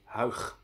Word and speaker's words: Huyg: It is pronounced as a G, so the first syllable of his name is pronounced Huyg.